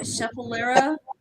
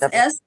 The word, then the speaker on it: Schefflera: Scheffalera. It's Schefflera.